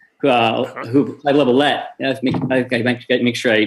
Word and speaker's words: Lovellette: The other one is Clyde Lovellette, who Clyde Lovellette. Make sure I pronounce his name right.